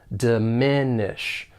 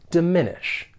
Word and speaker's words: diminish: For pronunciation, the verb has three syllables and the stress is on that second syllable. Diminish. Diminish.